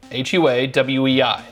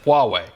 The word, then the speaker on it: Huawei: fine folks at Huawei hua WEEI that's how you pronounce it Huawei I know this because